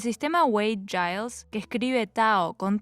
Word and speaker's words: Tao: también todavía se usa Tao Y taoísmo de cualquier forma con t o con d se pronuncia tao el taoísmo es una